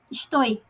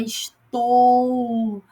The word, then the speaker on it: estou: ela tem vida própria a gente fala estoi não é estou E essas fonéticas de